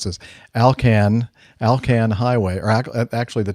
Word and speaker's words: ALCAN: to the pronunciation of a l a-l-k-a-n it is uh it is in fact alcan made me laugh listening to the way jeff pronounced it two different ways i had i was covering my bases uh never heard it pronounced alcan kind of made me think of vulcan anyway um again it